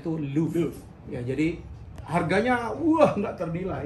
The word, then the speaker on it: Louvre: Bacanya tuh Louvre.